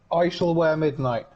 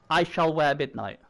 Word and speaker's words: I Shall Wear Midnight: So no, just so you know, my team's pronounced I shall wear midnight. I shall wear midnight. Well, why don't they spell it that way? It is spelt that way. But you just have to, it's just that the I is like as in icon, as opposed to I as in you know, or item or I as in Ippon, or you know.